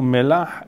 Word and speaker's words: melach: Le mot molhim vient du mot melach, et comme vous voyez que je le prononce à la sfarad, le mot melach n'a rien à voir avec le mot melech.